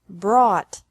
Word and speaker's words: brought: Bring, brought, brought, buy, bought, bought. Catch. Caught. Caught. Fight. Fought. Fought. Seek. Sought. Sought. Teach. Taught. Taught. Think. Thought. Thought. Remember that the G is silent in these verbs.